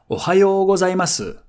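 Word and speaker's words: おはようございます: Now, if you watched my video about hiragana I explained that some characters could be devocalized depending on their position or the character that follows.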